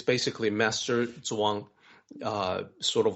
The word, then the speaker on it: Zhuang: Well, it's a book about Chuang Tzu, and I know the pronunciation for that name is a little tricky for the Western audience. Yeah. Zhuang is the surname of this particular master, family